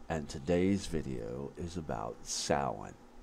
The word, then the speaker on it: Samhain: today's video is about samhain sometimes pronounced same and also the germanic